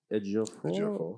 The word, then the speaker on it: Ejiofor: And then Chiwetel Ejiofor.